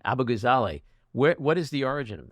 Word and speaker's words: Abughazaleh: I want to ask you about your name, Abughazaleh? Abughazaleh. Abughazaleh.